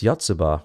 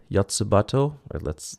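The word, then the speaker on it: Yotsuba&!: Next up is Yotsuba, or is it Yotsubato? According to Wikipedia, it is anyways. I didn't know that's how you pronounce an ampersand.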